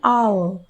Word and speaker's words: hour: Now, we say an hour because H is silent.